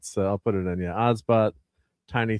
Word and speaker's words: OBSBOT: So it's Osbot. It's spelled OBSBOT.